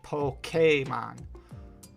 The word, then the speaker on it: Pokémon: in their instructions that you have to say Pokémon. Like p o k a y m o n.